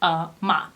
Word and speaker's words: UOMA: to bring you the brand new round called OMA now it is spelled you OMA but they say on their about Us page that it is pronounced ma so why am i excited about this brand